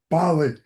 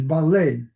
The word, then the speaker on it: Baley: Uh, Patricia McCrae Bali. And, how do you say your last name? Ball. Yeah. Okay. So, you say it the same way. Yeah. Actually, in Ukraine, in Ukrainian is ballet.